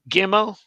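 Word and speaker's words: ג: So Gimel had two sounds with and without the dot, but now they are the same. Now it's g all the time.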